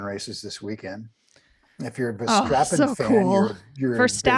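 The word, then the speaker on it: Verstappen: this weekend if you're V strappin fan for stappen I knew how to say that I just said it wrong just to see if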